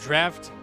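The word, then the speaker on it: draught: Yes, that word is pronounced draft.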